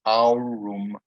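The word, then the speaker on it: aurum: we have our ear the second one a u that's uh so it's our room our room and again that is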